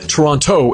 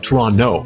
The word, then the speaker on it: Toronto: It's not Toronto, it's Trono. That second T it is silent.